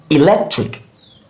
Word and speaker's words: electric: So lek is the word, the stressed syllable. So this is pronounced electric, electric, electric. Did you notice? Pronounced at a higher pitch, longer and slower.